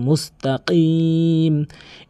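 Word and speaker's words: مستقيم: এখানে কাফের উচ্চারণ করা যাবে না, কফের উচ্চারণ জিহ্বার গোড়া থেকে উপরে তালুর সঙ্গে লাগিয়ে কফের উচ্চারণ করতে হবে, মুস্তাকিম।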